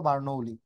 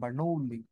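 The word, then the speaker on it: Bernoulli: বার্নৌলি বার্নৌলি বার্নৌলি উচ্চারণটা এরকম বার্নৌলি গ্যাসের গতিতত্ত্ব অনুসারে অণুগুলো সংঘর্ষ অস্থিথাপক না স্থিতিস্থাপক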